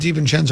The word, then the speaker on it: DiVincenzo: Do we want it DiVincenzo or DiVincenzo? I'm a Cenzo guy. Okay, well, we'll go with DiVincenzo, which is the way he pronounces his name.